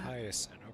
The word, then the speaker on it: Hyacinth: Hyacinth, okay. That's how you pronounce The it.